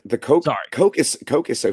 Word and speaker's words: Koch: I don't It's actually pronounced coke.